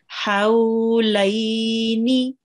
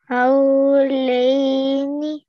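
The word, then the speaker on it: حولين: Hawlaini. Hawlaini. Very pretty. Remember that the ha, this ha, has to be pronounced from the middle of your throat.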